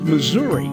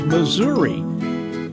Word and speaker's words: Missouri: before the supreme court it's kind of like missouri if you live near saint louis it's missouri if you live near kansas city it's missouri but unlike some areas of